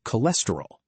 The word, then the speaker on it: cholesterol: Continuing with pronunciation rules, ch is pronounced as k, like in cholesterol.